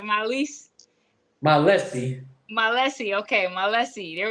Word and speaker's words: Mallese: Mallese.